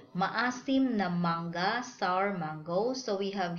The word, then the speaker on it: mangga: So, ng here pronounced from the word sing, ring, ding, and then you just add the vowel. Sing, nga, singi. Okay. Maasim na mangga, sour mango.